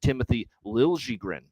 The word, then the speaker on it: Timothy Liljegren: You've got, let's get the pronunciation right because he changed it, Timothy Liljegren for the San Jose Sharks on the blue line.